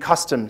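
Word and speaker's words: kastom: what i learned as custom now that's not a misspelling k-a-s-t-o-m not like country kitchen but that's really how you spell it and custom is more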